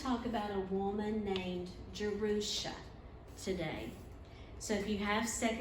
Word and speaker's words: Jerusha: And to the Jews today, when they name their daughter Jerusha, and it's spelled with a Y in Hebrew, and it's pronounced Jerusha, when they use that